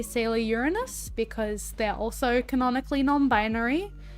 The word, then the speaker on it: Uranus: But yeah, Sailor Uranus is my fave. That is how you pronounce it. I don't want any funny business in the chat, alright? All of you, calm down. I can feel your fingers typing away right now. It's Sailor Uranus.